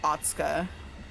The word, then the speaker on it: Otsuka: I'm wondering if that's one of those times where you don't pronounce the U, so it's like Otsuka.